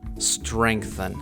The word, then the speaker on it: strengthen: Це strengthen.